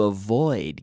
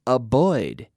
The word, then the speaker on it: avoid: like the V and it's very important to pronounce the V properly not a Boyd yes oh no a void okay very good now